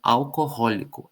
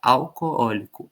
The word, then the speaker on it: alcoólico: Ela se escreve alcoólico. Alcoólico. Por quê? Porque em determinado momento da língua, esses dois ós eram pronunciados. As pessoas falavam alcohólico. Alcohólico. Aí esse hazinho saiu, começaram a pronunciar alcoólico. Alcoólico. E esses dois ós viraram um ó só. Na escrita não. Na escrita ainda existem dois óos, mas na fala todo mundo diz alcoólico.